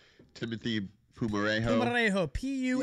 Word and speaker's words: Pumarejo: Pumarejo, P-U-M. You guys actually said it right. I've heard so many things for Pumarejo. I've heard Pumajero, Palmageri.